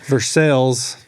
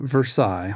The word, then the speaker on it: Versailles: Versailles, not Versailles, like in France. Spelled like the French place, but it's in Missouri, so it's not said like that.